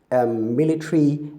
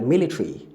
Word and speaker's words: military: What they're trying to tell you is that the schwa sound there can be omitted when pronouncing these words.